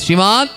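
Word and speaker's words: শ্রীমদ্: বলুন উচ্চস্বরে সবাই হ্যা শ্রীমত নামের আগে শুদ্ধভাবে উচ্চারণ করতে হবে। শ্রীমদ প্রণাবানন্দজি মহারাজ যিনি সারা ভারতবর্ষ জুড়ে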